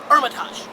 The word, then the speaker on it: Hermitage: of you have not Armitage silent H go with me here